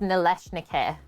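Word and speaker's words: налисники: It's actually pronounced Nalysnyky.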